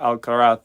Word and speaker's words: Alcaraz: uh where basically where carlos alcaraz or al-kharat as they say in spain where where alcaraz is training